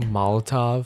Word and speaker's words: Molotov: Florida, allegedly tossed I don't know how to pronounce this, Molotov cocktail. How do you say it? Molotov.